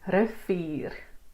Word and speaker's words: rivier: And the moment you see an R, you can know it's an elongated ear. Rivier, rivier.